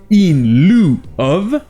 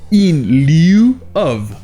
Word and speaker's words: in lieu of: Et comme on l'a vu avant-hier, EU en anglais est souvent prononcé OU. Et en plus de ça, le I ici est souvent muet. Donc ça va soit se prononcer in lieu of, ou alors in lieu of.